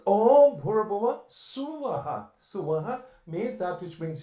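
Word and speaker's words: स्वः: It's not Swaha, or it's Suvah, Suvaha, that which brings you happiness.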